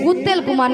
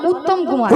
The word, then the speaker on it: উত্তম কুমার: শ্রী শ্রী উত্তেল কুমার নয়, বলো উত্তম কুমার।